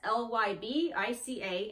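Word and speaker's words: lybica: Vica or live occur you pronounce that it's ly B I ca and that's the subspecies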